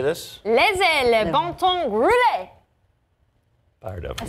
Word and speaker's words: Laissez le bon temps rouler: Laissez le bon temps rouler.